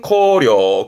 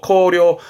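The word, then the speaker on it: 荒涼: 발음은 코려, 코려.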